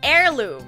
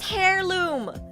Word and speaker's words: heirloom: It's It's heirloom. It's heirloom. The H is a silent H. Sorry guys. Sorry guys. the Aussie debuff. I thought it was hairirloom, but it seems like it's heirloom.